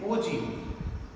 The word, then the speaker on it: ogive: और यू कैन से OG. ठीक है, लिखते हैं हम इसको है OGIVE बट it pronounce as OG.